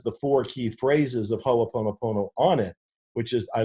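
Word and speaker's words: Hoʻoponopono: worth asking it's pronounced ho oponopono okay everybody stumbles over it you're not alone everybody stumbles over you just pronounce every one of the syllables so it's ho o pono ona and it is a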